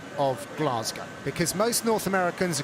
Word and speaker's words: Glasgow: Well, first of all, I've got to commend Eric on his pronunciation of Glasgow because most North Americans call it Glasgow, but he's got it down.